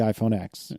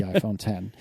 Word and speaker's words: iPhone X: we are immediately told, no, it is not the iPhone X. It is the iPhone 10.